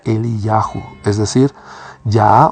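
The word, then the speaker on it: אליהו: Pues tenía que venir alguien que cumpla con la misión de Elías, que en hebreo se pronuncia Eliyahu, es decir, Yah o Yahvé es Dios.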